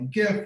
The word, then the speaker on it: GIF: whether it's a funny gift or somebody's uh good twitter thread and i'm very uh i just want to note that gif is very important that that's with the hard g and if you pronounce